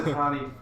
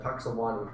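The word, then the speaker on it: Punxsutawney: Puxatawny Phil. And I said Puxawani Phil. Puxawani? Where was the W, Titan?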